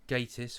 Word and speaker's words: Gatiss: Mark Gatiss or Gattis, depending on how you want to pronounce it, did the Crooked House, 2012, something like that.